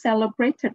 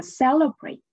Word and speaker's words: celebrate: The first word is celebrate. Celebrate. The stress is on the first syllable.